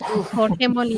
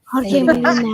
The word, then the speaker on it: Jorge Molina: Dad, you say it so good. That's how you say it. Jorge Molina. Mara's going to ask you to say it again. Jorge Molina.